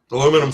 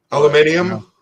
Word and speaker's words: aluminium: Aluminum foil. Aluminum foil wouldn't. Maybe for his head. Make a little hat. No, I can't get over how we pronounce that differently. You know. Aluminium.